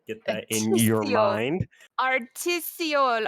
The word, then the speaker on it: artisiole: Uh, so my name is actually pronounced artisial. Get that in your mind. Artisol. Artisio.